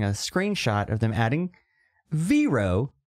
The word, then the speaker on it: Vero: screenshot of them adding veero vero vero however you say it I pronounce it vero and they're all banned